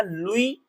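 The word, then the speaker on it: Louis: लुई, spelling बड़ी अजीब है, लुई फिशर, ठीक है ना।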